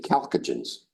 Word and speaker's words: chalcogen: Next to them are the oxygen group, or the chalcogens. CHACOGEN. The CH is a hard C, K, chalcogen. From the word calx.